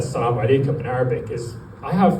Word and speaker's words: Assalamu alaikum: Now, if you're feeling uncomfortable, that's because that Assalamu alaikum is an authentic Arabic pronunciation. I never passed through the Western Sydney rendition.